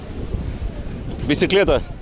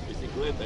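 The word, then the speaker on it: bicicleta: Бисиклета. Бисиклета, я. А, ага. Будешь запоминать потихоньку испанский. Да, да, да. Я тоже буду вспоминать. Видишь, ассоциативно можно запомнить как бизи к лету.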